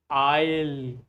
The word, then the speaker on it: aisle: It is pronounced like aisle. aisle This s is silent. This a is silent.